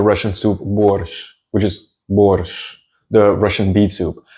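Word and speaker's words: борщ: Then we've got the Russian soup borщ, which is borщ, the Russian beet soup. And the sh is pronounced like the sh in shoe, shoe.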